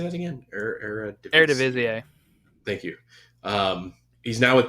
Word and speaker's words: Eredivisie: Eredivisie.